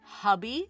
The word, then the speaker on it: Hobbii: Now, I've heard this company name pronounced Hobbii, Hobbii, Hubby. I've heard so many different variations, so I've just chosen to call it Hobbii and just stick with that.